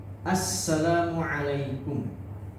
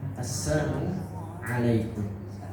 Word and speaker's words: Assalamualaikum: Kemudian ucapan salamnya juga harus jelas ya. Assalamualaikum. Karena ketika salah dalam pengucapannya, maka bisa jadi itu akan maknanya tidak baik ya. Seperti assalamualaikum ya. Assamu alaikum ya. Assam itu artinya adalah celaka. Celaka. Celaka untuk kalian.